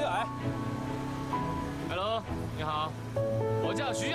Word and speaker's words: 岩: Ai Long "Ai" as in "rock" and "Long" as in "dragon" Shouldn't it be "Yan"? Yep, we pronounce it as "Ai" Hello, Ai Long I'm Xu Haoning Xu Haoning!